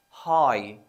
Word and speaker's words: high: can also be silent when it is with hitch such as high h i g h we say hi the GH is silent